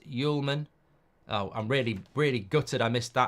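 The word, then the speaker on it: Hjulmand: Homeland and Sporting is pronounced Yulman.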